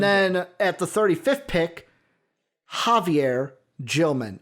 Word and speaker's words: Xavier: And then at the 35th pick, Javier Gilman. It's Javier because of the J, like, unless you want to say Javier, but it's Javier is how you say it.